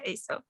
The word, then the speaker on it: Asil: Have I pronounced correct? It's Asil? Yes, it's fine. Yeah, Asil.